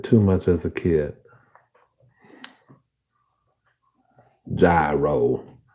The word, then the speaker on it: gyro: Gyro. Or as I called it, gyro. Like too many guys in a row.